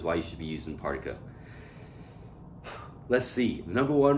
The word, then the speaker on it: Partiko: Is it Partiko or Partiko? Tico sounds so cool, but Partiko, like a particle, is what I'm going with.